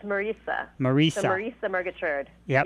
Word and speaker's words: Marisa: I know it's Marisa, but it's pronounced like Teresa, not Marisa as in Marisa Tomei. It's Marisa.